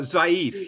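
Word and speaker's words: ضعیف: up with week uh zif yes it it it's the the Persian pronunciation is zif and it means weak and uh sometimes it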